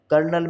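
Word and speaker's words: colonel: puff होता नहीं है कर्नल कर्नल में आर का जो है ना प्रोनाउंस आ रहा है लेकिन आर होता नहीं है तो इस तरह की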